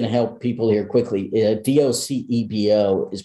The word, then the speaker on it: Docebo: i'm just going to help people here quickly d-o-c-e-b-o is pronounced docebo and most people say docebo um and uh